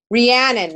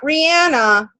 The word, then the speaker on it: Rhiannon: Rhiannon, not Rihanna, although that would be amazing as well.